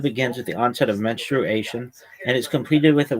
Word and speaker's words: menstruation: It's menstruation. It's four syllables, not menstruation. That's not right.